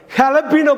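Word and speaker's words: jalapeño: ஆனால் எழுதுகிறப்ப JALAPENO, JALAPENO ஜலப்பீனோங்கிற மாதிரி உச்சரிப்பு வரும். அப்படி உச்சரிக்கக்கூடாது, ஹலப்பீனோன்னு உச்சரிக்கணும்.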